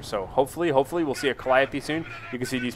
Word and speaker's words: Calliope: Oh, ladies and gentlemen, the beautiful Calliope, as I like to affectionately refer to it. Yes, I know that's not how you pronounce that. It's Calliope.